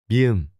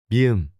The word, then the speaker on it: 미음: 미음. M. This is pronounced like the M in mother. 미음.